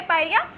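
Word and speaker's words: pyorrhea: English में भी इसको पायरिया ही पढ़ते हैं, लेकिन स्पेलिंग में लिख देती हूँ आपको, पायरिया। ठीक है, ये होती है इसकी स्पेलिंग और इसको बोलते हैं पायरिया।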